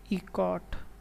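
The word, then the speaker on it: Eckert: प्रेस्पर इकॉट, ECKART, इकॉट। ठीक है, तो प्रेस्पर इकॉट और जॉन मॉशुले द्वारा ये जो है पहला डिजिटल कंप्यूटर बनाया गया।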